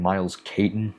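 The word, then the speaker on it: Miles Caton: Um, I believe I don't know how to say his name. Miles Kaitton is how you say his name.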